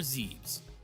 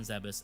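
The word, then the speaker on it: Zebes: A quick aside here, is it Zebus or Zes? I grew up pronouncing it as Zeb, so it sounds weird to me to say Zeus. I say Zebus.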